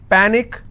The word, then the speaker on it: panic: with ic picnic okay the rule says in case if you have any word that's ending with ic the stress should be on the last but one syllable so let's break this panic is per nick which means i will stress on